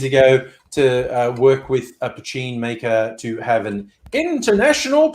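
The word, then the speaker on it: poitín: when you see it spell it looks like patine but it's pronounced pachin that's how Quail goat works so now you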